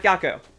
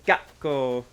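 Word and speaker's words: 学校: natsu ginkgo and gakko the pause is important it's not gakko it's gakko you gotta pronounce things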